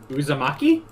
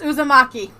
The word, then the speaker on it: Uzumaki: It rhymes with teriyaki. Uzumaki? Yes, Uzumaki.